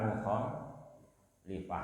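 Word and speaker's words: مخالفة: Jadi yang depan mukhalafah, yang belakang mukhalifah ya.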